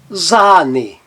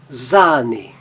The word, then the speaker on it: Sahne: Agora veja lá na palavra Sahne, Sahne, Sahne. Ele tem um som um pouco mais longo e está representado na transcrição fonética pelos 2 pontinhos.